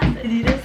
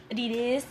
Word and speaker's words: Adidas: Princess Polly Levis Adidas Adidas that's how they say it in Italy Adidas but it's Adidas for us I don't know what